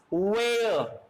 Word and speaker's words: where: Where. Again, H is silent.